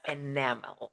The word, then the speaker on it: enamel: Pay attention to the stress. It's enamel.